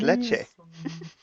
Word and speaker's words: leche: You say it wrong. It's leche.